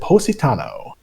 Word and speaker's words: Positano: it is I well in Italy they pronounce it Positano it's a it's a